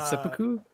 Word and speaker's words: seppuku: Was it seppuku?